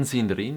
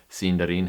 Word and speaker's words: Sindarin: Firstly, there's the matter of emphasis. Putting stress on different syllables. In sindarine, you put your emphasis on the third to the last syllable if your word has more than three syllables. Sindarin happens to have three syllables. So, unlike what I was doing last time, putting the emphasis on the dar, you're going to put it on the scene instead.